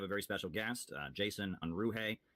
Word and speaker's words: Unruhe: So today we are going to have a very special guest, Jason Unruhe.